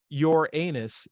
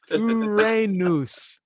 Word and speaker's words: Uranus: And it's not your anus, it's Uranus. Accent on the Ra, same as in Aaron Ra.